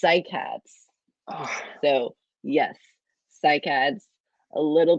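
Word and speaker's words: cycads: cicadas that's so close you had an extra syllable it's cycats so yes cycad's a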